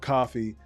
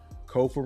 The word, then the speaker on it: Kofa: I am your humble host, Kofa, Kofa, not coffee, not Kufu, not Kofi, or any variation thereof. Kofa rhymes with sofa.